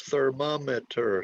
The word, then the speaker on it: thermometer: the word thermometer okay how many syllables thermometer so four syllables thermometer and the accent is on the second syllable third mom thermometer thermometer